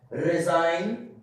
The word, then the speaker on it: resign: At the end of the word, okay, at the end of the word before N, G is silent. Like resign, design, benign.